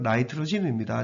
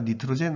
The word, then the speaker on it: nitrogen: 이건 나이트로젠입니다. 니트로젠 아닙니다. 그냥 평소로 말할 때는 니트로젠으로 얘기하고 영어로 읽을 때는 나이트로젠이라고 발음 교대로 읽기를 권해드립니다.